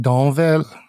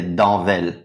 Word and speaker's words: Danvel: the copy traders lounge your surname is danville not pronounced dawnville i keep getting that wrong prior to hearing you say it yes in in french i should say danvel english i say danville like people can say